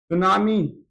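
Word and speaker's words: tsunami: उदाहरण के तौर पर भूकंप, यानी कि अंग्रेजी में अर्थक्वेक, ज्वालामुखी, अंग्रेजी में वॉल्कानिज्म, सुनामी। सुनामी में टी साइलेंट क्यों होता है यार, कोई बता सकता है?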